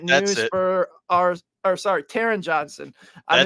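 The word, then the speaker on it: Taron Johnson: nickel Corner in the league it's no longer Tron Johnson so that is some unfortunate news for our or sorry Taran Johnson I mispronounce his name I'm sorry Taran but for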